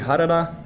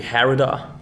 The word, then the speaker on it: Harada: of that artwork by midori harada or with the american pronunciation midori herida a little city in